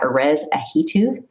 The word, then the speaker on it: Erez Ahituv: hype digital with us from miami we've got orez ahito perez welcome to media champions glad you could